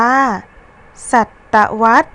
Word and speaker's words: ศตวรรษ: มา ทำ ที่ 7 ศตวรรษ อ่าน ว่า ศตวรรษ คำ ว่า วัด มี พยัญชนะ สอ รือ สี ตาม หลัง ระหัน พยัญชนะ สอ รือ สี อยู่ ใน ตัว สะกด มาตรา กด ดัง นั้น เรา จึง อ่าน ออก เสียง คำ ว่า วัด เป็น เสียง พยัญชนะ วอแหวน ประสม เสียง สระ อะ แล้ว ตาม ด้วย เสียง ตัว สะกด มาตรา กด ค่ะ อ่ะ มี คำ ที่